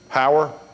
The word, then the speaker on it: Heuer: Heuer?